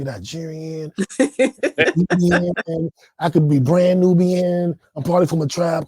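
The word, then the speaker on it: Nnọọ: me how you pronounce it how do you pronounce that new so the Evo word for hello is new and they call it a warm greeting I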